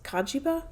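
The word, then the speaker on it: Cagiva: no c-a-g-i-v-a but then like Japanese pronunciation is kajiba so k-a-j-i-b-a but I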